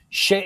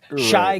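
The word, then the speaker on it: Shai: all the breaking news on that Shay it's Shay Gilgish Alexander it was like Shy Gilgius Alexander is how they said it.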